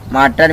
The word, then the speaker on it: martyr: माइटर means होता है मार्टर means शहीद, इसका स्पेलिंग होता है MARTYR मतलब शहीद।